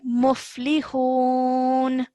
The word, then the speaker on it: مفلحون: عين Okay, this is the letter fa. Okay, so I think maybe it's confusing because there's a slight textual error over here, but this is fa. Okay, muflihun.